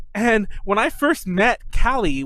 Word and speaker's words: Callie: And when I first met Callie, which is spelled C-A-L-L-I-E, like kind of like Cali, like California, C-A-L-I, I kept calling her Kelly, like as if like, you know, Kelly, like, you know, Kelleyy, whatever the fuck.